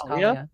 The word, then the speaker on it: Kalia: Adding to the Kalea. counter, stylist. You what? Adding to the counter. Kalea? Said her name wrong. Is it not Kalea? It's Kalia? Kalia? Kalia?